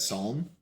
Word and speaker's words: Psalm: Psalm.